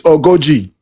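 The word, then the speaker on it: ogójì: So but the full academic pronunciation is ogoji. But like I said, in a fast environment, sometimes somebody can say OG. You know that they're still talking about the same thing.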